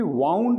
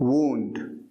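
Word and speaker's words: wound: घाव को वूंड कहते हैं, और ध्यान रहे घाव को कभी भी वाउंड नहीं कहते हैं, ये गलत प्रोनाउंसिएशन कई लोग कर देते हैं, इसे कहते हैं वूंड।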